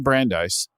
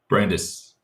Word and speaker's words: Brandis: do so well so Cameron Brandeis Brandeis Brandeis Brandes didn't get the pronunciation of your name people are gonna hear and of course they won't edit this out but they'll just hear that I'm a bozo right Brandes so Cameron Brandes is